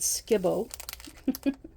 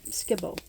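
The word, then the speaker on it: Skip-Bo: bow but we always we pronounce it Skibo I don't know if it's a Canadian thing or if it's just my family but yeah we always pronounced it SK Skibo uh yeah used to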